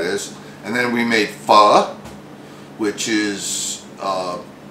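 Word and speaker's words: pho: how easy that is and then we made fur which is spelled p-h-o-a and then we had s'mores rice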